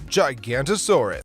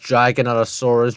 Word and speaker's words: Giganotosaurus: the world number 10 gigantosaurus okay so first off it's pronounced Giganotosaurus Giganotosaurus Giganotosaurus but not gigantosaurus second why are you